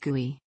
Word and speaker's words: GUI: referred to as Chrome or GUI pronounced GUI typically users interact with